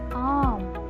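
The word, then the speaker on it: आम: How to pronounce it? Together, arm. Arm.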